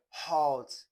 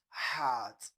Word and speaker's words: heart: Some say uh hot it's not hot. The sound there is ah. So when when the sound is ah why you not saying hot? Okay. So it is heart uh letter uh a